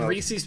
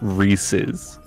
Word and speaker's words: Reese's: first day of orientation they're like it's Reese's Reese's if you're going to work here say it right damn and everyone walks